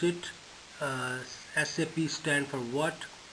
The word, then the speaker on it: SAP: how do you say sap so it is an initialism not an acronym therefore it is pronounced as individual letter s a p and not pronounced like